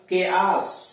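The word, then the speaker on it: chaos: सी एच ए ओ एस, के आस, सी एच ए ओ एस, के आस यानी अराजकता।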